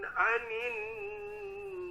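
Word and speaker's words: عن: Kemudian tadi terakhir di huruf ain pada kata anin, anin tadi kurang ditekan Pak. Ini terpengaruhi oleh huruf hamzah sebelumnya biasanya. Maizin anin jadi bacanya. Harusnya a dibaca. Lebih tekan lagi Pak.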